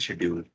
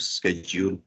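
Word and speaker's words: schedule: हमने स्टार्ट करना था असेसमेंट शेड्यूल या असेसमेंट स्केड्यूल। दोनों प्रोनाउंसिएशन ठीक है, एक ब्रिटिश है एक इंग्लिश है, ब्रिटिश एंड यूएस।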